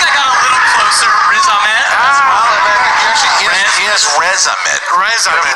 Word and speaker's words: Riz Ahmed: I don't know how to pronounce his name. Ahmad Razin? I can't remember. What does that sound? I don't know his name. I think I got a little closer. Riz Ahmed.